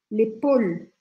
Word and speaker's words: épaule: L'épaule.